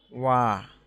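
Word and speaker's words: 와: ঠিক আছে, তো দেখুন আমরা পরবর্তী অক্ষরটা শিখব ওয়া। এটার উচ্চারণ হবে ওয়া ওয়া ও অন্তস্থ আকার ওয়া।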